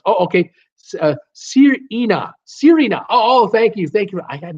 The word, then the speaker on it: Sirena: Sirena, proud pronounced. Oh, okay. Sirena. Oh, thank you. I had no idea what you were doing. Sirena, that's how we pronounce the name.